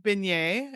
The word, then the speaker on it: beignet: And I've learned I've learned beignet, right? Is that how you say it? Very good. Yes.